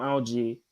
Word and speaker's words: algae: I did the American pronunciation because the American pronunciation is algae. The British one is algae.